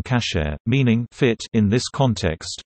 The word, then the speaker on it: kasher: Food that may be consumed according to halakha, Jewish law, is deemed kosher in English, Yiddish, from the Ashkenazi pronunciation of the Hebrew term kasher, meaning fit in this context, fit for consumption.